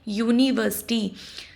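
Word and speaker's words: university: Because यूनिवर्सिटी का pronunciation होता है यूनिवर्सिटी और यू वाई यू यू कसोनेंट sound है।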